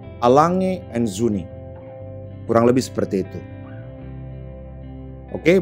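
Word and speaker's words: A. Lange & Söhne: Gua pernah dengar beberapa orang nyebutin merek ini adalah Lang & Son. Ada juga yang dibuat singkat dibaca Lange. Jadi kalau ada yang nanya, jam lu apa bro? Gua pakai jam tangan Lange. Ternyata cara baca yang bener adalah Lange & Söhne. Gua coba sekali lagi, Lange & Söhne.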